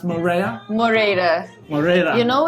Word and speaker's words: Moreira: Is it pronounced Moreira?